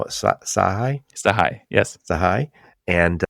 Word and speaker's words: Sachaj: So I'm talking to my friend Michael Sahi, and he doesn't spell it Sahi. Sahai, yes.